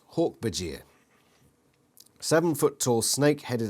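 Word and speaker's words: Hork-Bajir: a clumsy ape-like alien hortbegear pronounced hawk bajir seven foot tall snake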